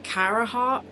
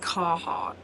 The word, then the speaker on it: Carhartt: I call it Carahart, but I'm pretty sure when I look at it, it's actually just Carhartt.